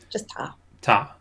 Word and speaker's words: Ptah: Is there any plausible connection between the Jewish Christian concept of the divine Logos and Ptah's... Is that how you pronounce that? Ptah? Yeah, Ptah. Okay. Just Ptah.